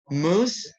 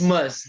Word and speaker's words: Muzz: how to pronounce this is it must is it moose it's must that's that's what i